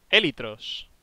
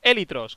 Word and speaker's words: élitros: Llevan acento en la E. Élitros. Busca élitros con acento en la E.